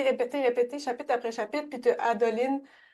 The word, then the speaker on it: Adolin: chapitre après chapitre puis adoline ou adolin je sais pas comment le prononcer on peut dire adolin juste pour la différence CLA adolin à côté qui